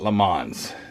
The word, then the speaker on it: Le Mans: wrong but anyway I'm going to call it Le Mans there is a cup stain right there see that 100 Years of Le Mans because I'm American and that's how we pronounce it um so I got